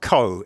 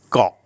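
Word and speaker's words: เกาะ: It's transliterated this way, and Farangs always say ko samui, ko samet. It's not ko, it's just got.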